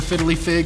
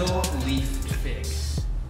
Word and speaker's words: fiddle-leaf fig: really know about the fiddly fig or the macrame. What are we looking at? What? Fiddle-leaf fig. Oh! Oh, there it is, there it is. Wait, we've been saying it wrong this whole time.